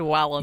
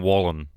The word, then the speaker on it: Wallen: weird guys you said Wallen you said Wallen how it's spelled but it's Morgan Wallen yeah right yeah well